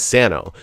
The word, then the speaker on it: Sano: I think the traditional pronunciation is Sano. So nobody's wrong when they say Sano per se, except for it's just the way that I particularly, my immediate family particularly pronounces the name.